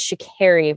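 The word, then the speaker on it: Sha'Carri: so i don't know why i was putting the uh softer a in there i i knew better it like i literally finished recording with sasha and it was like i knew i was mispronouncing her name and i just could not process in the moment so anyway uh my deepest apologies for that because it is shakiri richardson and i you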